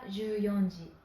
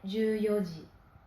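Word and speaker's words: 十四時: On ne dit pas juyonji, mais juyoji.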